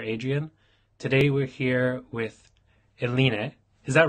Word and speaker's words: Eline: Today we're here with Eline. Is that right? Did I pronounce That's that right?